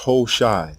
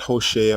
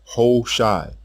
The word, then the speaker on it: Hoshai: The king's name is pronounced Hoshai, not Hoshea or Hawashai. Hoshai.